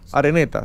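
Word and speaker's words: Araneta: ¿Así se pronuncia, Eugenio? Sí. Areneta, sí, él sabe filipino.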